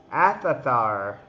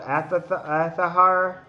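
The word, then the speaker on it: Aether: He probably he probably use like sudachi or athar. Aithar. It's pronounced Aahar.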